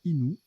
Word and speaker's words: inu: cépage blond de Bourgogne inu se prononce inou d'accord d'un peuple amérindien